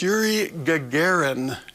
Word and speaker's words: Yuri Gagarin: the Vostok Rhett Kerrigan no pronunciation is incorrect for both its Yuri Gagarin Gagarin all right since that's the man's name we want to be exact with it all right all